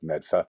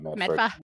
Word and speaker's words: Medford: You know it's Medfa, not Medford.